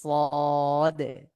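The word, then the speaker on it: ص: এরপরে হলো সদ, সদ, এটা মুখ ভরাট করে একটু মোটা করে উচ্চারণ করব আমরা।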